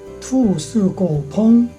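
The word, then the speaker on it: 兔死狗烹: 간체자 발음은 투, 스, 고, 펑, 투, 스, 고, 펑으로 발음합니다. 문장을 하나 알아봅니다. 如果争权更换亲卫队必定 투, 스, 고, 펑.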